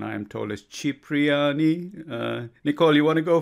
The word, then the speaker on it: Cipriani: The correct pronunciation, I am told, is Cipriani.